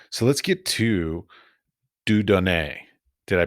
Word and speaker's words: Dieu Donné: I guess all right so let's get to dudon did I pronounce it correctly very good yes okay your